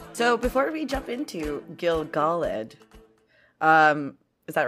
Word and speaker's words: Gil-galad: so there so before we jump into gilgaled um is that right yes okay uh correction